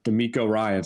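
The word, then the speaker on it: DeMeco Ryans: fourth one we're thinking about is uh uh D'Amico Ryan's I said it right this time right yeah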